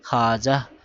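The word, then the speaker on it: خواجہ: দেখো এখানে খাজা ওয়াও কিন্তু পড়ে গেছে ওর উচ্চারণ হয় নাই খাওয়াজাহ এভাবে পড়ি নাই খাজা পড়েছি খাজা অর্থ সম্মানী ব্যক্তি তারপরে খাওয়াব পড়ি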